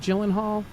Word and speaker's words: Gyllenhaal: your handle is Sam is it am I pronouncing your last name right? Is it Gyllenhaal?